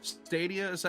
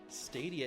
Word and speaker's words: Stadia: start it out with Google stadiums at how it's pretty o stadia is how it's pronounced I don't know how